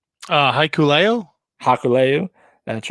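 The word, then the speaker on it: Hikuleo: and matt can you help me with the pronunciation of haku's son's name uh haikuleo hakuleyu that's right they defeated finju's moose and morsi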